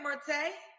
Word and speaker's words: Marte: Am I saying it right? Marte? Yes.